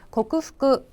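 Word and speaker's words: 克服: 땡땡 붙지 않습니다. 고쿠 청음으로 발음해서 고쿠후쿠 이렇게 기억하셔야 되겠고요.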